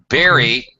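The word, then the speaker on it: burying: good thank you uh pronunciation of berrying okay Barry okay buur y all right this is very very common mistakes I don't feel bad I hear this all the time berry berry with dirt put in a hole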